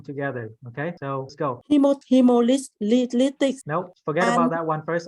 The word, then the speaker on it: hemolytic: So the emphasis on the third syllable. So hemolytic.